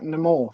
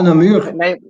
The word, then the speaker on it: Namur: try and bring back Namor for the MXGP? The what? The Breton? For the Namor, Namor, Ah, Namur. Namir, yeah, how you pronounce it, Namir, yeah.